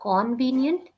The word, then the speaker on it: convenient: It's not convenient. It's con. Convenient. Convenient. Correct. Convenient. Yeah. We write down O, but when we pronounce it will be k, not ko.